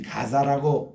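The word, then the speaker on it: Gaza: 우리가 이 가사라고 발음할 때는 그거는 아랍 방언으로 가사라고 발음을 해요.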